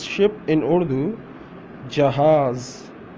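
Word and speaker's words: جہاز: Jahaz, Jahaz, Jahaz. How to pronounce ship in Urdu? Jahaz, Jahaz, Jahaz, Jahaz.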